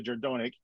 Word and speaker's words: Jerdonek: that being said i'm joined today by andrea gerdonic uh correct me if i mispronounced your name hailed it nailed it awesome